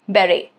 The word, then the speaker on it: beret: Next is beret, which is a round flat cap beret, okay? Again, T is silent.